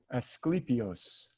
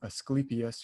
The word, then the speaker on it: Asclepius: at the end but usually in modern times we call him asclepius or asclepius but he's the god